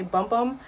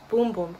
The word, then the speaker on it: Bum Bum: I believe that's the proper way to pronounce it. A lot of people say Bum Bum, but I believe it's called Boom Boom Cream.